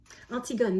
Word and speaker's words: Antigone: one is a play artsy gun that's Antigone pronounced in English um and I want